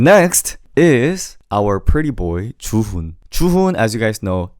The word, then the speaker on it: Juhoon: It's Chuhun. But make sure you pronounce it a little bit more monotone than what you could imagine. So don't say Chuhun. Don't say Chuhun. Don't emphasize. Just say Chuhun.